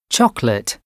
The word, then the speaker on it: chocolate: 9.2 9B pronunciation B pronounced with two syllables chocolate different Family Medicine restaurant